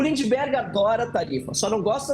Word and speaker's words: Lindbergh: Peço perdão pela pronúncia errada, viu, deputado? Falei Lindenberg. Lindberg Farias.